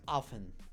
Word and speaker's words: often: menudo en inglés es often often no se pronuncia la t llueve a menudo entonces